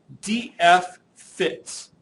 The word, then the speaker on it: DFFITS: The first one's called or referred to verbally as DF fits. So notice I don't say it's DFFITS. I actually pronounce it DF fits.